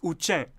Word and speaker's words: Uchen: And this, the name for this Klingon-looking beauty that is the Tibetan script, how do you think it's pronounced? Any clue? Time's up. It's Uchen.